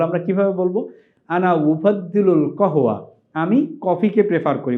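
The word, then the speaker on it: قهوة: বলা হয় কহতুন আচ্ছা এই যে কহ আমরা লিখেছি এটি হচ্ছে শুদ্ধ আরবি মডার্ন স্ট্যান্ডার্ড এরাবিকে এটাকে বলা হয় কহুওয়া আর আরবরা এটাকে যেই নামে বলে আরবরা বলে গাওয়া আপনারা দেখবেন আরবের সবচেয়ে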